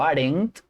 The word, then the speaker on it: aren't: art diego y digo aren't ese sonido así se pronuncia esta ene apóstrofe t ponemos nuestra lengua detrás de nuestra de nuestros dientes y hacemos la intención